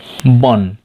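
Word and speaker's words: 번: Number 7 मा हेर्नुस् बन, बन भनेर यसलाई उच्चारण गर्ने, फन नभने।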